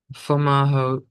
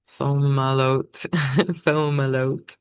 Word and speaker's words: Fomalhaut: So the moon conjunct Fomalhaut, Fomalhaut. It has an H in it, so that's hard to actually pronounce. Fomalhaut.